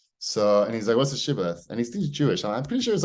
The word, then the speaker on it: shibboleth: Some groups pronounce it with a sh, but speakers of related dialects pronounce it with an S. Sibboleth.